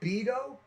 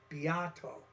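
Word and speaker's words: Beato: his name was rick i thought it was beto and i was like what a great last name for somebody that's that's in the music business right beto but apparently that's not how you say it it's it's uh rick biato as i would learn later on so the title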